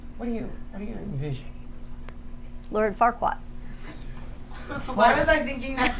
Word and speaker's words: Farquaad: Is it Fardquat? Farquaad.